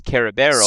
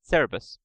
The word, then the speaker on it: Cerberus: Yeah, The original is Kerberos, which you might recognize from Cardcaptor Sakura. That's the original Greek. But when we brought over, the pronunciation got switched, and we pronounced it Cerebus.